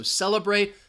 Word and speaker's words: celebrate: this word alright so celebrate second syllable has the schwa let's go to the